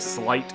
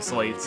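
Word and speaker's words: sleight: used much also I know slate is technically pronounced slight as in slate of hand but everyone I know calls them slates and that sounds cooler so I'll be using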